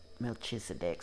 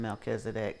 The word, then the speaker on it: Melchizedek: Melchizedek, sorry. I grew up calling him Melchizedek because that was the pronunciation I was given. But I hear it, or Melchizedek is the way I've heard it mostly lately.